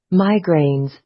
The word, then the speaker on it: migraines: Migraines. So the stress is in the first syllable. Migraines. So এই জায়গাটা আপনাকে একটু লম্বা করে বলতে হবে, not migraines.